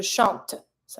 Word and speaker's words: chantes: Je chante. So I do pronounce my T, but I don't pronounce the E. Tu chantes, same thing. ES mute.